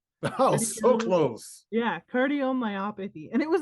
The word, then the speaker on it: cardiomyopathy: yeah, cardiomyopathy.